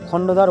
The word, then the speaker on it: খন্ডধর: আর আমি কিন্তু যে বারবার খান্ধার ওয়াটারফল বলেছি ওটা কিন্তু ভুল উচ্চারণ। সঠিক উচ্চারণটা হলো খন্ডধর ওয়াটারফল।